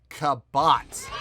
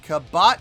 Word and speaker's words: Kabát: hope pronounced this right i believe the band is pronounced kabot yes indeed uh this